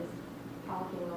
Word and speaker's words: dyscalculia: Dyscalculia, it's pronounced different ways. I say dyscalculia.